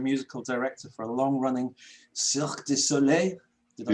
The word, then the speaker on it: Cirque Du Soleil: as composer and musical director for a long-running Cirque Du Soleil. Did I say that? Ooh, very well pronounced.